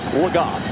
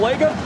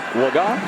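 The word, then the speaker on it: Laga: We just got word that the preferred pronunciation of this quarterback is Cooper Lag. We've been saying Lego, a guy who wasn't expected to play, hadn't thrown a pass in his entire career. Preferred pronunciation, Waga.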